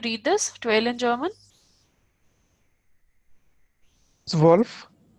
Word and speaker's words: zwölf: Zwölf. Sjolf. O umlaut is yo. So it is Ja. Sjolf. Sjolf. Okay. So I'm repeating. Null, eins, zwei, drei, vier, fünf, sechs, sieben, acht, neun, zehn, elf, zwölf.